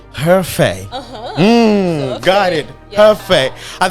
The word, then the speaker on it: Hefei: I was having problem in pronouncing it. Hefei. Hefei.